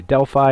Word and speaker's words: Delphi: oracles was at delphi other people say delphi i'm going to say delphi for tonight it's spelled d-e-l-p-h-i very